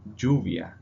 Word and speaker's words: lluvia: Ella, it is pronounced like a J. For example, llave Key. or lluvia.